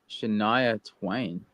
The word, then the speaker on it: Shania Twain: But she's Shania Twain, right? I don't know if you know who Shania Twain is. What's her way name? back in the day. Shania Twain, a country star. Shania Twain.